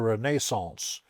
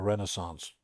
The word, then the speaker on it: Renaissance: Not since the Renaissance, which is how you say it, not the Renaissance.